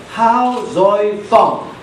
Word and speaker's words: 夏瑞芳: This man, his name is, you will see, Hao Zoi Fong, and that is the Chinese pronunciation of his name.